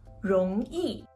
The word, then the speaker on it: 容易: Fácil se dice rong yi. Sé que para la mayoría de vosotros pronunciar yi es fácil, pero rong es un poco difícil.